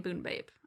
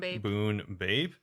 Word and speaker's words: Bunebape: i just say oh it rhymes with runescape yeah so it's kind